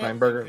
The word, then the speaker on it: Steenburgen: Steinberger, yeah.